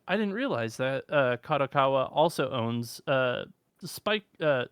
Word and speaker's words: Kadokawa: are a couple things that are also under kakawa or uh kadokawa sorry I'm mispronouncing that that I didn't actually realize were